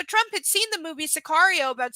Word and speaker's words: Sicario: Yes, it was, because what I haven't happened, seen that one, but Sicario is how it's pronounced.